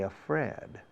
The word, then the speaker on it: afraid: La pronunciación, afraid, la segunda sílaba es como la primera letra del alfabeto inglés. A, B, C, do, re, mi, 1, 2, 3, A, afraid.